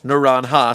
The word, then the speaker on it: Naranja: El Rey de Naranja directly translates to the Orange King, not Orange Warning, and it's pronounced Naranja, Spanish.